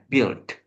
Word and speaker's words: build: Iya, Nah, cara bacanya, U-nya nggak usah dibaca, Sis Kafa langsung aja pakai I-nya ya. Build.